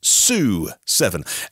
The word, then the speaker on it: SU7: of blows you away the su7 I think is pronounced sue7 s stands for Speed Ultra and in watching the presentation today uh they were calling it su7 when I've and all